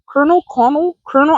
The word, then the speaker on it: colonel: And even when they had him tied up for 3 days, no food or water, and the colonel, I think it's pronounced Colonel, even though there's no R.